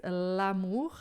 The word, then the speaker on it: l'amour: Então, não é l amor, mas lamur a gente junta o l no a e vai ficar uma coisa grudada na outra, o que torna o francês muito melódico, muito gostoso de escutar.